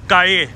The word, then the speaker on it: Calle: This here is Calle, 'll' is pronounced as 'Y' in Spanish.